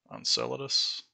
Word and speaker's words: Enceladus: more like there's a planet whereas a moon Enceladus I think is how you pronounce it it's around Saturn or maybe I